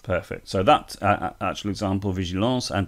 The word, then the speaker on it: vigilance: So that actual example, vigilance and département, those are both cognates, but the children might try to pronounce them in an English way, but of course they want to know the French pronunciation.